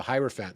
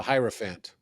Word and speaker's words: Hierophant: Everything, once you go into this stage, we're now in what's called the Hierophant stage in tarot, which is represented by the elephant. It rhymes with Hierophant.